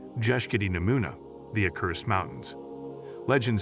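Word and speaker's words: Bjeshkët e Nemuna: Head north and you'll run into a terrifyingly beautiful mountain range called the Albanian Alps or as the locals say, Jesi Namuna, these mountains.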